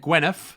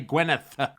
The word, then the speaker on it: Gwyneth: all right I know I just said Gweneth or I didn't pronounce the th as like I'm from some low socio-economic background I meant to say Gwyneth Gweneth your